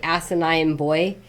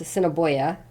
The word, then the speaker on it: Assiniboia: Some people would say asinine boy, and it's like, no, it's Assiniboia.